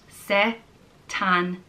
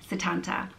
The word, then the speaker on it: Setanta: The next name is Setanta, and it's an old mythical name meaning son of Sultan, and it's pronounced Setanta. Setanta.